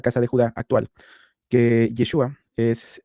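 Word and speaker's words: ישועה: Antiguo Testamento, van a encontrar precisamente que la pronunciación de salvación, como vemos aquí, es Yeshua.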